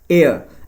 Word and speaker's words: heir: So the right pronunciation H is silent over here actually. So right pronunciation is what? Heir an heir.